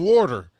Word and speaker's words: water: And there's no R in water. There's an R at the end.